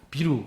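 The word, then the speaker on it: ビール: 일본 사람들 맥주 발음 어떻게 하는지 아세요? 비야, 비야 이러다 하면 비루, 비루 이렇게 표현해요.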